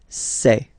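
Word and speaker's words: ces: then set here and for the plural say say really open this e e say Okay so let's see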